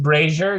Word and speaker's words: Brazier: It is pronounced Brazier. Do not mess that up.